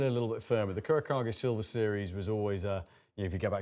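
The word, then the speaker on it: Kurokage: Kurakage. Kurakage. Think of it in Japanese, how they pronounce it.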